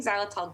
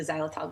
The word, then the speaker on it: xylitol: well as consider chewing xylitol gum or sucking on xylitol mints. Xylitol, it's spelled with an X.